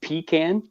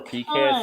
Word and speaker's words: pecan: think, that it said it's not pronounced pecan. Yes, it is. If you're in Canada, it's pronounced pecan. It depends where you're at. Some are pecan, some are pecan here in the States.